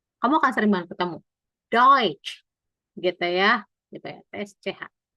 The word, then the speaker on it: Deutsch: TSCH ini bacanya kayak C. Kamu akan sering banget ketemu. Deutsch, gitu ya.